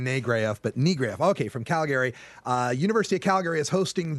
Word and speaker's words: Calgary: We are joined by an activist from Calgary, which I'm told is the way you pronounce it, not Calgary. It's Calgary, Alberta, Canada.